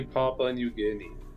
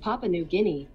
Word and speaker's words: Papua New Guinea: you mean okay Google how do you say papa and New Guinea that's pronounced Papua New Guinea Papua New Guinea figures someone would be back